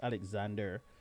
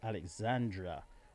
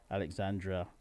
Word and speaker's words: Alexandra: spotlight on alexandra alexandra making sure that i pronounce her name properly she's not alexander i am alexander she is alexandra alexandra barnett uh she is